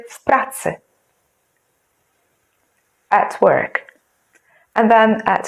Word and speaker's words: w pracy: And because P is a voiceless consonant, then W sounds like F. So together you say w pracy.